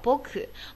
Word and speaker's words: 僕: 好，这个仆人的仆哈，在日语中读作一个僕。